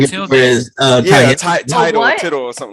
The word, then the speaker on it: tilde: I think it's called a tilde. Title or tittle or something like that. Tilde. Yeah. It's a T name. I think. A T day, a tilde, what? Tilde. Yeah, something like Matilda. Tilde.